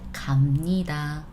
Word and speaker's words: 갑니다: Thing is, when we pronounce this one, it's supposed to be B, yes. However, we always want to say it softer in general. So 갑니다, no. 갑니다, tough to pronounce anyways, right? So we pronounce it 갑니다.